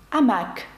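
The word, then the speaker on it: hamac: пишеться але не вимовляється наприклад слово готель французькою буде отель А пишеться воно з аш Чи слово гамак амак французькою аш пишеться але не вимовляється До речі письменника французького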